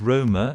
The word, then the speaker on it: Roma: did you know the real pronunciation of Rome in Latin It is Roma and sounds as Rama almost True North to Rome